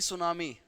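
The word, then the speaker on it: tsunami: क्या बोलते हैं सुनामी और सुनामी ऐसे लिखा जाता है टी सुनामी यह टी साइलेंट होता है ठीक है अगला सवाल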